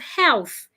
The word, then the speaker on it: health: person says what of health health does not have silent h the H must be heard and the th you need to stick out your tongue Health your tongue should